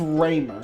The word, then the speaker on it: Ramer: I think they said at some point how you should pronounce it in general, but I do not remember. Okay, it is Raymer.